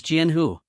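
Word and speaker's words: 江湖: rushing in as well one sheep Goods is pronounced as janho in Chinese while sword lake is Jan hu hence the misunderstanding if you find any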